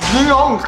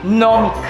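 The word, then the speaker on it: gnomic: Ginyong! Ano? Ginyong! Isa ba? Ginyong! Mali! Silent G yan. Ang tamang basa niyan, nomic.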